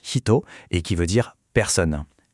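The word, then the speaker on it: ひと: On enchaîne avec un autre kanji essentiel, shito qu'on prononce hito et qui veut dire personne.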